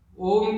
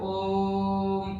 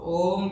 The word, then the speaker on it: ओम: इसमें 3 जो लेटर है वो आ, ओ और ये तीनों आने चाहिए। लोग सिर्फ ओम करते हैं, क्योंकि ये तीनों लेटर